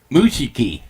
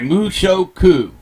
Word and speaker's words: Mushoku: what did you say I think like it's Mushu like there is no I in okay keep that in the eye mushoku mushoku tens teni I